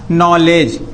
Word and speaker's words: knowledge: उस डी को बोलना ही नहीं। जैसे हमने लिखा नॉलेज, KNOWLEDGE, इसको नॉलेज बोलेंगे कि नॉलेज बोलेंगे, डी को बोलना ही नहीं है। ये हमारा डी जो है वो साइलेंट है।